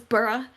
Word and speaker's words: borough: tk mantis to hear we pronounce burroughs apparently it's borah and like british or something and here we say burrow like when i talk about the boroughs of new york i say burrow but people were like